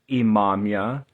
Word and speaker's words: Imamiah: So, as I said, in the 16th century, you understand the name of the angel, the way it should be spelt or pronounced, Imamia.